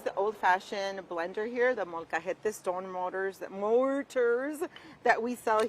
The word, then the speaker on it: molcajete: I'm going to use the old-fashioned blender here, the molcajete stone mortars that we sell here.